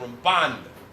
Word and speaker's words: Ramban: When you pronounce Ramban, you stress the nun at the end, Ramban.